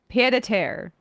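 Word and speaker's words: pied-à-terre: P pedair rhymes with rhymes with pear. Okay. Pedare.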